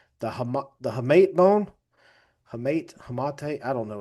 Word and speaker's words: hamate: I'm gonna somebody pronounced it last night on rounding third. I had it completely wrong. The hamate bone, hamate.